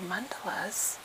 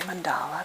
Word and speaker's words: mandala: So mandalas, and some people say mandala, but the actual pronouncing dictionary says mandala, so I'm going to call them by that name.